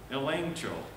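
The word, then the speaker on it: ἐλέγχω: that's the greek word elaine cho it's spelled with a g but in in greece you just can't say g c h so you make it nch elancho and that means to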